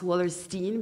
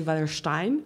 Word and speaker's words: Wallerstein: So I based this on Emmanuel Wallerstein, and I pronounce Wallerstein because he was American and not German, so I don't say Wallerstein.